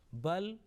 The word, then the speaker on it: بل: here the same word bal is there followed by kaf, and here lam is manifested, clearly pronounced. Bal, the lam followed by ra, lam is dropped. Here lam will be kept there.